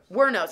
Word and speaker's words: Wuornos: Wuornos, that's how you say it.